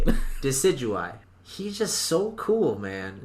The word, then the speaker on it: Decidueye: like oh yeah that's how you say it decidueye he's just so cool man and that's who